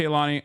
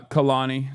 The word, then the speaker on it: Kehlani: Anyway, but yeah, shouts out to Kaani. Uh Khalani, sorry that's how you say her name. I apologize. I was saying it wrong.